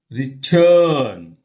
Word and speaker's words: return: Stress fell on second syllable. Okay. Look at these words. These are weak prefixes. Return.